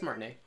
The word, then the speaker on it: Martinet: Is that how you pronounce it? Yeah, it's Martinet.